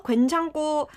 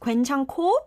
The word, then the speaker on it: 괜찮고: Gwaenchanko um It should be pronounced gwaenchanko because under tan there is this ku sound, and it moves on to the next syllable, and it makes a gwaenchanko.